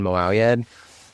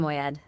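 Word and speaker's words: Moayed: Um we had Arian Moed, um who's wonderful and become, I think, a good friend of us all.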